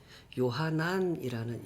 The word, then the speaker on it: 요하난: 이거 히브리어식으로 발음을 하면 요하난이라는 이름입니다. 이 요하난을 헬라식으로 발음을 바꾼 게 요한이 되겠습니다.